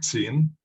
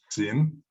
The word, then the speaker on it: Qin: Esto se escribe así en el alfabeto fonético chino y se lee Qin, es un segundo tono, Qin.